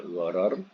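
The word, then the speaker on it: غرر: Ejaan gharar boleh ghain ra alif ra atau ghain ra ra, ya. Bunyinya gharar dalam braket gelap, ya.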